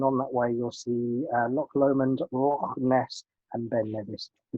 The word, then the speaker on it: Loch Lomond: I've learned how to say this in my recent trip. Loch Lomond, Glencoe, and then arrive into Fort William.